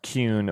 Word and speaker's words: Kuhn: The last name is pronounced Kuhn with a U sound, but most people don't get it right, and that's fine.